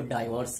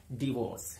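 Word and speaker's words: divorce: उसने अपनी बीवी को डाइवोर्स दे दिया, डाइवोर्स, जबकि असल प्रोनाउंसिएशन है, करेक्ट प्रोनाउंसिएशन है डिवोर्स, नॉट डाइवोर्स, डिवोर्स।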